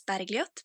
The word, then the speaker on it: Bergljot: name is Bergie um my Norwegian name is barot but since it's really difficult to pronounce in English I just go by Bergie and I am a